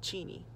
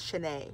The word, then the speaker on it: Cheney: I don't know if y'all know, but she's actually studying down in Eastern, so she's down in Cheney, or some of you guys pronounce it as Cheney, which is wrong.